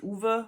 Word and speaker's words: Ove: and told me that it's pronounced Uwe, which, okay, I can see that because in Germany we also have many men named Uwe. But I like Ove, so I'm gonna keep saying Ove.